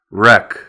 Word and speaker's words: wreck: Then we have the silent W, which is not pronounced at the beginning of a word before the letter R, as in wrench, which is this tool right here.